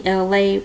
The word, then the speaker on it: Elay: Once again, it's me, Elay, pronounced like LA, like the city.